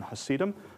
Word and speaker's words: Hasidim: Half of them, about, may be considered, to use the American pronunciation, Hasidim. And the other half are